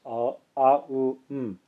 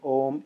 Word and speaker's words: Om: Others say it should be pronounced as the om in the English word home.